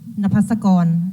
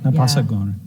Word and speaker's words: Napasakon: Napasakon. Napasakon. Yeah, because the K in Thailand is sound like go. Go. Napasakon.